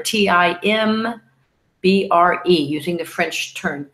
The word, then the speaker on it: timbre: that you're hearing, and timbre, T-I-M-B-R-E, using the French term. It sounds like as if it's spelled differently, because that's French for you, right?